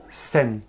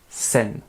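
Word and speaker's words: 千: Comment il se prononce? Sen. Sen. 1000. Encore une fois, hein, pour 10, c'est juste 2. Pour 100, on dit juste hyaku et pas ichi hyaku. Et pour 1000, c'est pareil. On ne dit pas ichi sen, on fait sen.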